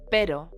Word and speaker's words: pero: To express the word but, you would say pero with a soft R sound.